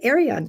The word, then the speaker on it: Arion: She has been a a CEO of Achieve TV and now at is it Arion? Is that how you say it? Arion TV. Yes, that is correct.